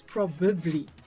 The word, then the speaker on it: probably: When you're in a hurry and you talk you say I probably won't be probably. You see you eliminate the extra syllable there because you are in too much of a hurry to speak. So now you think you must write like that as well. No, the proper word is probably. Probably. Probably. Please remember that extra syllable.